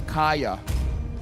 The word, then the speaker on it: Kaja: oh yes right it's it spells out Kaja but it's pronounced as Kaya and then everyone just refuse to call it Kaaya so we just call it Kaja yeah I still have